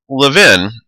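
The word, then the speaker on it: Lewin: keep things stable so Levin I know there's a w there but it's actually pronounced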